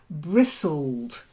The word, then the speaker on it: bristled: in a few moments bristled another silent letter this case is silent tea bristled quite not like